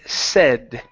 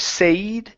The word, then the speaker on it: said: we have the word said instead of say okay this is a short e sound e say said his